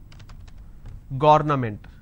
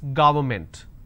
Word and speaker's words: government: against it's against government how do I pronounce this ga it's ga word government and you pronounce this when you make a mistake as garment so don't say it's government it's government environment against extra all